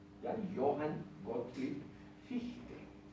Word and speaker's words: Fichte: Johann Gottlieb Fichte. Y en alemán la IE es una I larga.